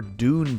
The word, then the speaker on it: Dune: an absolute classic episode and its first ever Dune parody it is pronounced dun but did parasites regained live up